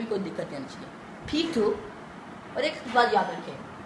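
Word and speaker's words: Peter: अब हम आर को प्रोनाउंस नहीं करेंगे।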